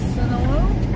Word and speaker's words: Sonoma: We are in Sonoma.